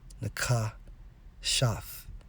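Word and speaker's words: נחשת: When we focus on brass in the Hebrew, it's Strong's H5178, pronounced as Nakashaf. Nakashaf.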